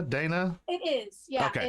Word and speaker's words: Deanna: Is it Dina? Dana? It is. Yeah. Okay. It's spelled Deanna, but my family has always called me Dina for years.